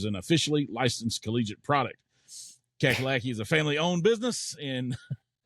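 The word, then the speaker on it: Cackalacky: sauce which is an officially licensed collegiate product kakalaki is a family-owned business in Pittsburgh North Carolina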